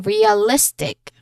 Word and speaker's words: realistic: So the stress is before I in realistic. Okay, listic. So list is our stressed syllable realistic. Okay, the energy rises before right before the ending.